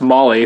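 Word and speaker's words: Mahle: D it's a moly mah Ellie's pronounced moly apparently filtered and inside it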